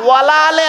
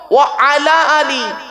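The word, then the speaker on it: وعلى آل: আলি, ওয়ালা আলে নয়, ওয়ালা আলে নয়, ওয়া আলা আলি। ওয়ালা আলে বললে নফির মানে হবে, নেগেটিভের মানে হবে, নাবাচকের মানে হবে, উল্টে গোনা হবে। আচ্ছা এটা কি? ওয়া আলা আলি, উচ্চারণটা ঠিক করুন।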